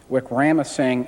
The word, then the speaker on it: Wickramasinghe: Gish cited, I think it's pronounced Wickramasinghe and Hoyle.